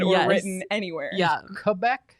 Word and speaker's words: Quebec: or written anywhere yeah quebec the correct pronunciation quebec quebec quebec good to know my